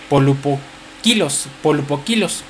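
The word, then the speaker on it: πολυποίκιλος: Cuando habla de la palabra multiforme, usa una palabra griega que se pronuncia polupokilos, que quiere decir de muchos colores.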